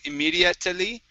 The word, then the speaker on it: immediately: Okay, now the E here at the end is not pronounced. So instead of saying immediately, it's immediately.